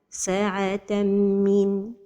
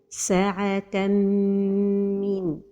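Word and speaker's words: ساعة من: The first mistake is to pronounce the idgham without a time for the ghunna. Sa'atan min. Another mistake is to pronounce the noon of tanween. Sa'atan min. And the right pronunciation is with a time for the ghunna and without pronouncing noon.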